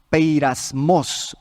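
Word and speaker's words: πειρασμός: para la palabra tentación peir asmos así se dice se escribe peir asmos es la misma palabra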